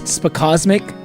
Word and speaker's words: Spacosmic: There you go. That's how you say it. I was like Spacos Mix. I was like, what? And as soon as I said it out loud, I was like, that cannot be how you pronounce it.